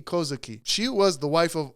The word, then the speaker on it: Kozuki: It was owned by Toki Kozuku. I mispronounced that. It was owned by Toki Kozuki.